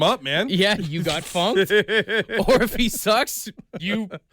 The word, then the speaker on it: Funck: And then my favorite one is Linus Funk, but it's spelled Funck.